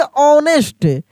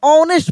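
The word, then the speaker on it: honest: लेकिन यहां पे एच का उच्चारण नहीं होगा। एच साइलेंट होगा। इसको हम लोग पढ़ेंगे ऑनेस्ट। क्या पढ़ेंगे? ऑनेस्ट पढ़ेंगे।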